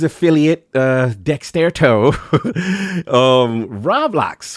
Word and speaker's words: Roblox: from K&N news affiliate uh Dexter toe um roblock how we pronounce it Roblox roblo hold up this is we're not talking